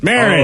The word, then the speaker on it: Marin: Marin.